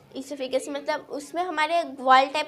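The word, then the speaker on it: oesophagus: तो अब हम जानेंगे ओसोफिगस बोलते हैं, तो हम इसे ईसोफिगस प्रोनाउंस करते हैं।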